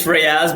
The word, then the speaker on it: Riaz: Now, did I get Riaz right, or is it Riaz? It's Riaz, but I don't mind exotic pronunciations, however you want to call it.